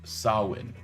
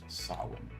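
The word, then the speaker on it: Samhain: LMS says it's pronounced sawin. So, it's written Sam Hay, but it's pronounced sawin.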